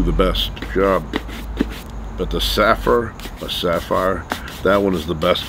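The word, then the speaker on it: Saphir: Sapphire.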